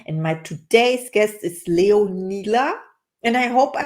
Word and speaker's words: Leonila: name is Caroline and my today's guest is leonila and I hope I pronounced your name right hello and welcome how